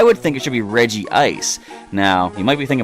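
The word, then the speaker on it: Regice: you pronounce Reggie ice I go obviously Reggie ice with sort of like two eyes and a lot of people call it reg ice to me that doesn't make sense cuz we have regirock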